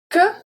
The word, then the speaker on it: que: Que, de, lumière. So que, the E is going to be pronounced in this case.